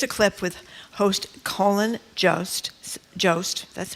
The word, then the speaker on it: Jost: Here's a clip with host Colin Jost. That's how you say it? Jost.